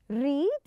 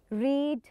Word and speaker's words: read: The first one is read read read. It's the same. Read read read. The pronunciation is different, but the writing that the spelling is the same.